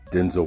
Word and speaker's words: Denzel: The great Denzel Washington, and I found out it's Denzel, not Denzel. It's Denzel. That's how he says it's pronounced.